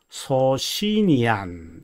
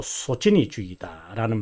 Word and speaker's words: 소치니: 소신이파, 보통 학자들이 영어적 발음을 그대로 갖고 와서 소시니안 이렇게 표현합니다만은 이탈리아 사람이기 때문에 소시니안이라는 말보다도 소치니주의다라는 말이 훨씬 더 옳은 것 같고, 그리고 보통 제가